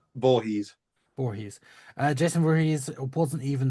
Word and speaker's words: Voorhees: Voorhees? Voorhees.